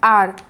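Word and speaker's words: hour: Teacher has been teaching for blank आर, तो आपको पता होना चाहिए कि आवर में एच आपका जो साइलेंट रहता है, इसलिए आप इसको क्या पढ़ते हैं, आर पढ़ते हैं।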